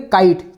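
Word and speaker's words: kite: हम इसको किटी नहीं बोलेंगे, ओके, हम इसको बोलेंगे काइट। खुद ये साइलेंट है लेकिन इसने वॉवेल की साउंड को शॉर्ट साउंड से इसने लॉन्ग साउंड में इसने कन्वर्ट कर दिया, ओके।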